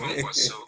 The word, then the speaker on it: Kwankwaso: You talk about Kwankwaso, although you didn't spell it well, you say OKWANKWASO, and then it's Kwankwaso.